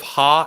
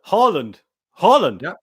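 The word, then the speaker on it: Haaland: you with that one it's instead of ha it's harland holland yeah we'll just do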